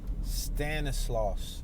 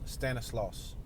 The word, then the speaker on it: Stanislaus: is that block that i was trying to pronounce earlier stanislaus stanislaus stanislaw standing slow s-t-a-n-i-s-i i'm sorry tongue twister s-t-a-n-i-s-l-a-u-s